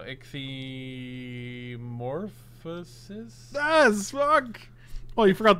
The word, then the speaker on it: Ichthyomorphosis: The first part's great. Ichthyo is great. It's not metamorphosis. Like, if I go through a change, I'm not going through a metamorphosis. You keep removing syllables. What am I don't understand what I'm saying wrong, to be honest with you. You said morphous, right? Yeah. Not morphosis. It's metamorphosis, not metamorphosis. So ichthyomorphosis?